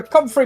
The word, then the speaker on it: Comfrey: Professor Comfrey Mold. How do I spell it?